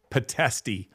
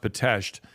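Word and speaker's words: Pitești: among many other things is I went to patasht prison it looks like potesti but it's pronounced batashed potato prison in Romania um at one time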